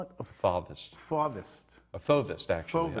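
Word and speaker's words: fauvism: A fauvist, actually. Fauvist. I was trying to decide whether it was a fauvist or a fauvist. I like fauvist. Fauvist is the correct Yeah. pronunciation.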